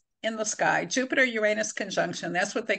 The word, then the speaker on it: Uranus: And so it's going to enlarge all things that Uranus, and I pronounce it Uranus, and it's like the unpredictable planet. Who knows how I'm going to pronounce it next?